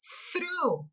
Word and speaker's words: through: Through. Então você faz o som do R ali logo após o TH.